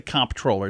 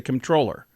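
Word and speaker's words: comptroller: sounds just like controller you're tempted to pronounce that MP but you don't it's not the comproller it's the controller really controller yeah Celtic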